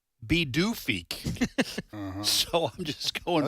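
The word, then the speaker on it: Pituffik: I T U FF I K and it's pronounced B doofi.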